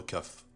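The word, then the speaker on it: ك: La lettre Kaf se prononce comme le K.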